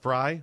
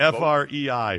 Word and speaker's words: Frei: It is pronounced Frey? It is pronounced Frey. It's German. Thanks, Skip. Appreciate that. Thanks, Rick. Problem, but it's FREI, Frey.